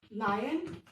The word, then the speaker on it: lion: Lion, sher. Children, please do not pronounce it incorrectly.